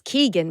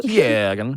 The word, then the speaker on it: Keoghan: I thought it was Keegan, but No, maybe I think it's he's saying it right. Say yours again. Keoghan. That's right.